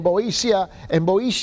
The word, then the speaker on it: Boeotia: And we know that he died because all the historical accounts which is recorded, okay, in Boeotia, which is the, it's spelled B-O-E-O-T-I-A, Boeotia, which is the central part of Greece.